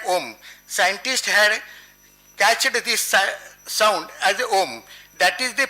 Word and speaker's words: Om: time sound is producer it pronouns its pronunciation is like ohm scientists have that is